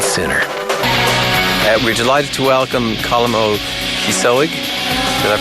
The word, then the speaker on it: Colm Ó Cíosóig: We're delighted to welcome Colm Cíosóig. Did I pronounce that correctly?